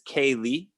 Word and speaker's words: K.Lee: say just for future it's kaylee is how you pronounce my name not kelly okay i just wanna